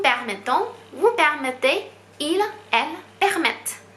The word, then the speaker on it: permettent: 变成 nous permettons, vous permettez, il, elle permettent。